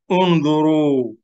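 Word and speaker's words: انْظُرُوا: This Alif is Hamzatul Wasl. Will be silent in the middle. Only we pronounce it when it's in the beginning.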